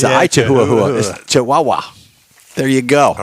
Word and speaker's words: Chihuahua: 12th this is my favorite it's the I Chihuahua classic car cruise in it's at the I Chihuahua Mexican Cafe in Spring brand just a minute you're mispronouncing it's the chahua it's I chahua chihuaha there you go all right thank you I